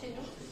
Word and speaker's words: Chesneau: Jean-Marie Chesneau, pas ça s'écrit Chesneau, mais on prononce Chéneau.